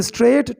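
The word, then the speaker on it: straight: एंड रैन स्ट्रेट टू the sage for help, रैन भागा दौड़ा, सीधा, स्ट्रेट यानी सीधा, इसमें जीएस साइलेंट है, इसको पढ़ेंगे स्ट्रेट टू द सेज, उस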